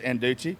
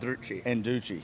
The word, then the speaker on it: Andreucci: Anduchi. I always say your last name wrong though. Yeah. And Anduchi with an R.